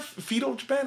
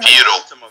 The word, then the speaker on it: feudal: How you say that word? Fetal Japan? Feudal. Feudal?